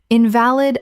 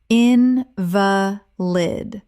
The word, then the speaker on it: invalid: Invalid, a sick person. in va lid Stress on first syllable. ill ow Not valid. in va lid Stress on second syllable.